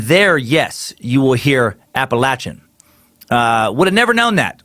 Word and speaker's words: Appalachian: end you Jackson suck you pronounce appellation as Appalachian which people which which people who live where I'm from Asheville North Carolina aka Bojangles toilet boil till toilet hole get very pissy if you pronounce that any other way than Appalachian I myself slipped up